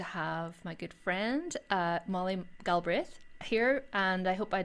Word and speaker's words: Galbraith: So we say Galbraith, like as if Ah, the second A doesn't exist, as if it's Brith. So Galbraith, Molly Galbraith, Galbraith.